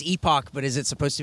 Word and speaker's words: Epoch: But I believe the coffee shop is actually Epoch. Okay, then fuck you. I think the pronunciation of the word is epic, but I think the pronunciation of the word is Epoch.